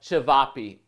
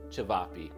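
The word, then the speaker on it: ćevapi: you're going to find some version of chavapi or it might be pronounced a little bit differently depending on which country you're coming from it'll be seasoned a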